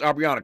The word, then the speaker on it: Aubriana: It is pronounced Aubriana, correct? Yes, you got it.